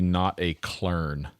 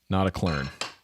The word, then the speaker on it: Notaklön: In English, the umlot, I guess that's what you call that, right? Um lot has a similar pronunciation to sound of the word her.